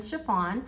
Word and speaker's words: Sha-Phawn: everyone, Sha-Phawn, pronounced like the material, and welcome to my channel.